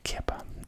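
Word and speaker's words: kheper: The scarab beetle in the top one, pronounced Kippa, is a rebus forming part of Tutankhamun's prenomen,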